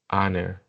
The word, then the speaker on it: honor: In this case, we have the eight sounds that is silent. Yeah, it's silent, no sound. For example, hour, hour, hour, honest, honest, herb, herb, herb, air, air, air, honor, honor, honor. Yeah, no sound.